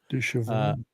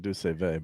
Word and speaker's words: Deux Chevaux: Du Chevaux. Du Chevaux. I always said Du Save, but what do When I was know?